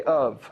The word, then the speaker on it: of: How do we, in an English language, how do we say of? How would you spell it the way we say it? O-V.